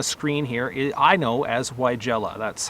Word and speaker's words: Weigela: up on the screen here, I know as Weigela. That's how I was taught to say it when I went to horticulture school, and my plant ID class, they called it Weigela.